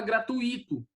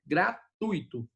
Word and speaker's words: gratuito: Porque o correto é gratuito, ok? Beleza? Então, vamos lá. Por quê? Porque é o seguinte, gratuito, certo? Trissílaba, paroxítona, né? E tem um ditongo ali. O U e o I estão colados, ficam na mesma sílaba. Tui, certo? Tui. Então, o que eu tenho aí? Quem fala gratuito, ele fez o quê? Ele separou o U do I e formou um hiato.